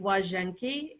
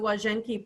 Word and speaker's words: Łazienki: It's actually Łazienki. It starts with an L, but if you see an L in Polish with the slash through it, the pronunciation is W. So Łazienki Park, and this is